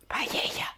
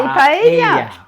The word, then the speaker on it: paella: Paella. Okay, yes, the Americans say paella. Well, I don't mind, you say paella. We say paella.